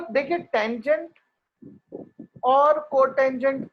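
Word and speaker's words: cot: Secant जिसको हम सेक pronounce करेंगे तो सेक वो कॉसे का है। वो कॉस का रेसिप्रोकल है, और कोटेंजेंट Yes.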